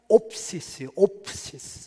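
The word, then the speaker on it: ὄψις: 헬라어에 뱀을 따라서, 외모를 따라서라는 말이 있는데, 이 문장이요 발음이 거의 똑같아요. 이 뱀이 오피스거든요. 헬라 말로 오피스예요. 피스고, 그 다음에 외모가 옵시스예요.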